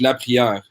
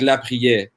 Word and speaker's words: la prière: Well, I said it in French, la prière, but it's like la prière.